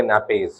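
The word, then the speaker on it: nappes: और दोनों क्या होंगे, नैपेज, ठीक है। ठीक हो गया। नैप्स भी आप कह सकते हो, लेकिन नैपीज जो है सही प्रोनाउंसिएशन है इसकी।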